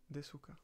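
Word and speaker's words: ですか: Desuka. Et tu prononces pas vraiment le u.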